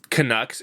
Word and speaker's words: Canucks: So I get, and also just Canucks. It's very unique in that it's like the only team where you really emphasize the second syllable.